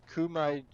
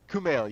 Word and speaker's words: Kumail: got who I can never say his name Kumai we know he talks about thank you yeah I'm so sorry name Kumail yes yes I I was seeing extra I